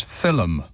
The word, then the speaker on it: film: Irish caller to pronounce the word film which the Irish pronounce as filim I personally find that